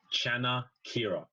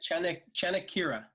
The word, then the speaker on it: Chanakira: Chanakira. Oh, just like it's spelled. Yeah, How convenient. very convenient. Chanakira.